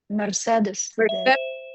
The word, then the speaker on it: Mercedes: I just sat in the shower for an hour thinking about how Mercedes has 3 E's and each one of them is pronounced differently.